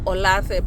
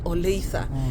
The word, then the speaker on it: Olathe: If you were to read it the way it's written, Kikenya will read it as Olathe, but here they pronounce it as Oleitha.